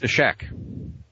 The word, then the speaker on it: Isaac: Okay, so Isaac, the original, the Hebrew pronunciation of Isaac is Ishak.